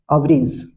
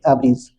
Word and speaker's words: abridge: Screen पर देख पा रहे हैं, वो है अवरीज, है ना।